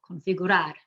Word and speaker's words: configurar: Then we have configurar, which ends in a consonant other than N or S, so that's the last syllable, configurar.